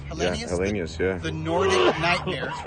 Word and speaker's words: Helenius: Yeah, Helenius, yeah.